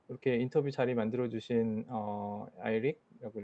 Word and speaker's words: EIRIC: 이렇게 인터뷰 자리 만들어 주신 아이릭이라고 읽어야 되나요? 저희 이릭이라고 보통 이릭? 읽습니다.